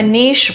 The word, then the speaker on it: niche: And it's like again, a niche rhymes with quiche and quiche belongs in France.